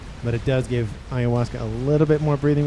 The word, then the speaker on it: Ayahuasca: Ayahuasca. Yeah, I think I'm saying it right. It's like Awasa is kind of how I think about how I pronounce it.